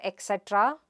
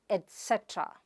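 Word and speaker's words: et cetera: It is not ek cetra or etcetera, but et cetra. Its /t/ sound there, /et set(a)ra/.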